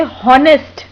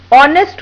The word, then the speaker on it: honest: इस नियम के अनुसार वे ऑनेस्ट को हॉनेस्ट पढ़ सकते हैं, लेकिन यहाँ हमें उन्हें समझाना होगा कि वावल से पहले आने वाला कॉन्सोनेंट साइलेंट हो जाता है, इसलिए वो हॉनेस्ट नहीं ऑनेस्ट पढ़ा जाएगा।